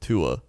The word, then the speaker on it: Tua: It's pronounced as it is spelled, Tua.